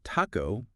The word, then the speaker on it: taco: mastering those nuances so Taco with a softer t almost like a d got it it's like